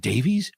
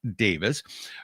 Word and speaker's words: Davis: Is it Davies or is it Davis? Davis. That's what I thought. There's no E in there.